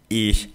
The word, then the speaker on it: ich: Fala com a língua presa atrás dos dentes. Ih, deu ruim. Né? Pronto, a pronúncia está perfeita, tá legal? Então, ich heiße Fritz.